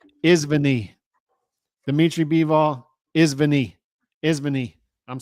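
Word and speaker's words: извини: It's Izvini.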